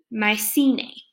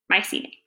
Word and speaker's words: Mycenae: move into the period called my sing I just learned to pronounce it I forgot Mycenae we're gonna do our best Mycenae okay so this is